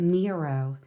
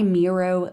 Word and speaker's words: Miro: today we're going to take a look at mirror it's spelled m-i-r-o and this tool comes with a